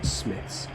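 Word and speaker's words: Smyths: went to sm well i believe it's written smides but apparently they're likely to pronounce smith's anyway that that and there's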